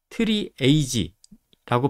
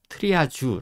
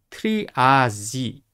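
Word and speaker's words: triage: 쓰는거다라고 보시면 되겠고 이거는 그래서 프랑스어 발음으로 트리아지 아고 여기 체치 비티가 렇게 해줬죠 그런데 실제로요 발음을 음성으로 클릭을 해 보면 트리아지 지에 가까워요 트리아지 예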